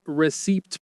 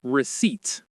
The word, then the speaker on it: receipt: The P in receipt is silent. You do not say receipt. You say receipt.